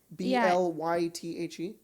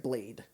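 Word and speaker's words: Blaidd: a wolf guy and his name is blythe but it's spelled b-l-a-i-d-d so it's like blade but it's blyth yeah whoa yeah yeah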